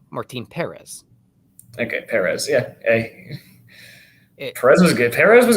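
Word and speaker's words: Martín Pérez: isn't it or is Jim correctly pronounces Martine Perez okay Perez yeah Perez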